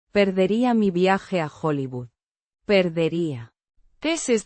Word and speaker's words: viaje: Pronounced Viaje. with the stress on the second syllable, the J. sounding like the H in house, but with a slight friction.